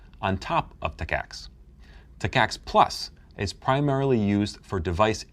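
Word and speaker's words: TACACS+: may come with it t-a-c-a-c-s plus pronounce Tech ax plus it stands for terminal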